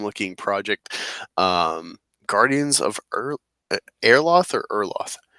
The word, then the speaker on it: Erloth: got an awesome looking project um guardians of airlath or erloth erloth awesome you're some of the pronunciation I'm getting right and I'm happy for